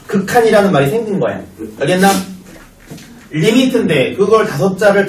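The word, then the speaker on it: lim: 뭐라고 읽어? 림인데 리미트라고 할 거야.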